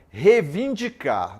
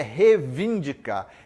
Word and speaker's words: reivindicar: muito falou muito né revindicar não é reivindicar é reivindicar erros de cá coep